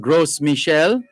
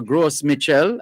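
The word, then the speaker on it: Gros Michel: uh that are called gross michelle or gross mitchell as we would say here in jamaica again it's g-r-o-s which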